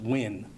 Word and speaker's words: Nguyen: officer andrew nguyen and i'll spell that it's n g u y e n pronounced win he is 34 years old and has been with lvmpd since 2018.